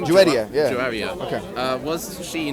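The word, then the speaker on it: Juwayriya: Juwaria, is that how you pronounce her name? Juwaria, yeah.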